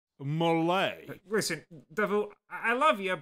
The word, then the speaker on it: Mullet: Like I'm gonna take advice from Marshal Mullet. It's pronounced Malay.